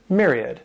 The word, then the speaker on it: myriad: This word has three syllables, and the stress is on that first syllable. That M-Y-R sounds like a mere, myriad.